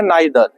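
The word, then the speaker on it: neither: और एक वर्ड होता है नाइदर। आइदर और नाइदर। इसको ईदर और नीदर भी पढ़ा जाता है।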